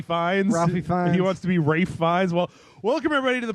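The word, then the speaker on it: Ralph Fiennes: Rafe Fiennes?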